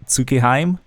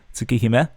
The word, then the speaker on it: Tsukihime: some people say Tsukiheim. The correct pronunciation is probably closer to Tsukihime.